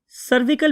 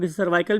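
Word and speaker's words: cervical: वो क्या है सर्वाइकल सर्विकल भी बहुत से लोग बोलते हैं बहुत सर्वाइकल भी बोलते हैं स्पेलिंग आपको आने चाहिए सी आर वी आई सी ए एल सर्वाइकल they always रिमन फिक्स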